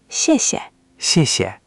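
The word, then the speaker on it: 谢谢: The second 谢 is light and neutral, almost swallowed. Listen. 谢谢. You're getting better each time. Just let that second syllable fall away even softer. Don't give it equal weight.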